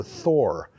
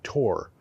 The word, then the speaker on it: Thor: offshore construction permit for Thor I'm pronouncing that in English it would probably be Tor nevertheless um it looks right to say it Thor rwe has been awarded